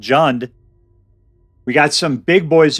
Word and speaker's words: Jund: in particular uh called June's sorry it's pronounced June jund sacks as in John's sacrifice why is it